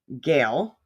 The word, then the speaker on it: Gehl: It's Soundworks by Gehl, right?